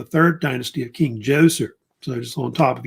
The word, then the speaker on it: Djoser: They think, of course, the first king to build step pyramids, of course, was a king named King Djoser, sometimes pronounced Zoser also as well, who is known as also by the name Necherkit.